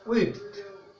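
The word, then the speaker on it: width: এটা কিন্তু ওয়াইড উচ্চারণে প্রথমে ও এসেছে এখানে উচ্চারণে প্রথমে রস ও আসবে অর্থাৎ এটাকে ইংরেজিতে বলি আমরা উইথ ঠিক আছে তাহলে ওয়াইড থেকে হবে উইথ নাউন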